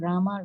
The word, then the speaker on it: Rama: pronounced hari pronounced krishna and rama rhymes with drama are sanskrit words hari